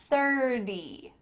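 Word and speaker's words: thirty: But, if I tell you my age minus one year, 30, 30, do you hear a T in the middle of that word, no. This T has changed to a D.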